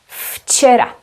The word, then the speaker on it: včera: Včera, včera. But this is a letter V, V. In other words, this is read as V. But here it is F, včera.